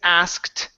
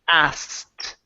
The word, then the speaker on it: asked: hint on the word asked okay we do not pronounce the k so instead of saying asked okay it turns into asked asked huh asked okay